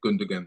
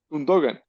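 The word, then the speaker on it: Gündoğan: some of these words because you said gundan wrong as hell gundogan how do you how do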